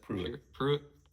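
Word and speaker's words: Pruett: Pruitt.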